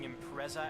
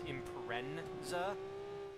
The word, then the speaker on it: Impreza: oh I usually have the annoying tic of pronouncing impreza as imprensa never get that happening